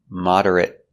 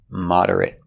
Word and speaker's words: moderate: she moderates the debate the verb is moderate now we see the same word but this time it's not a verb moderate with the short sound moderate moderate means in the